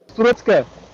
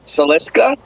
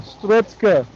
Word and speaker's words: Strutzke: So it's Strutzke. Aaron, Did do you you get want to that? try and pronounce that?